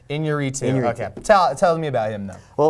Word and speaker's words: Iñárritu: It's Iñárritu.